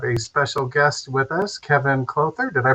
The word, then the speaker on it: Kevin Clouther: and we have a special guest with us Kevon closer did I pronounce that right and very well Charles all